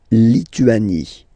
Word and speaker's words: Lituanie: La Lituanie. Remember in French, sorry, H doesn't exist, okay, so you don't pronounce it, and it's li, tu, a, ni, Lituanie. La Lituanie.